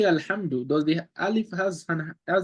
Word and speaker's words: الحمد: But we said Alhamdu because the lam here has a sukun. We said we pronounce the Hamza with the A.